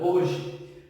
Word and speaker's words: hoje: pronunciar a palavra hoje percebam que eu mesmo correndo a letra h eu ainda continuo tendo sentido completo da palavra porque o hm não sei não é pronunciar ele não aparece na nossa fala que ele não aparece a nossa fala é uma lenda que não apresenta som então quando eu vou